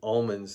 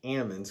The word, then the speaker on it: almonds: Or as an uncle once said to me, who's an almond farmer, they don't pronounce it almonds, they pronounce it almonds because they shake the L out of it.